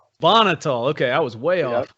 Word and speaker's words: Bonhotal: apologize josh i didn't even ask how to pronounce your last name bonnitol okay i was way off yeah close enough